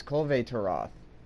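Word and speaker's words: Kulve Taroth: Yeah, it's Colvey Taroth. It's supposed to be pronounced sort of like I guess Latin, Greek descendant.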